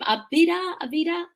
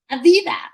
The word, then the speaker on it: Aviva: And just like, I'm sorry, your name, Avida, that's how you pronounce it? Aviva.